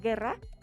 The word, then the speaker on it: guerra: el español por ejemplo tú dices guerra tiene una u que no pronuncia o o tiene una